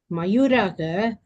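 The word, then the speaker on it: मयूराः: Yete mayuraha kim kurvanti mayuraha nrityanti Mayuraha. mayuraha Bhagavad, that Visarga also along with Akara should be pronounced properly.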